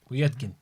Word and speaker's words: Povetkin: Povetkin. It's not really. Povetkin. That's not how it's pronounced. Povetkin. Is it? Povetkin. Something like that. You've got to pronounce the V, bruv.